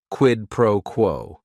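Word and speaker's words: quid pro quo: It is three words. Each word is only one syllable. And if you're saying it together, the stress is kind of on that first word and that last word quidd proquo.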